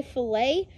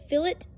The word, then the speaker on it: fillet: and bass and catfish the weird thing about fillets if people say filet but it's really fill it or some people that are people that I know say filet and um but it's spelled fill it Okay so after you've